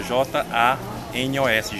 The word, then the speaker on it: Janos: Janos, como é que se escreve Janos? Janos é com J, J-A-N-O-S, Janos.